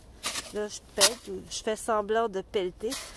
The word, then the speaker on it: pellete: Et le verbe, c'est pelleter et on prononce « je pelte ». Là, je pelte, je fais semblant de pelleter.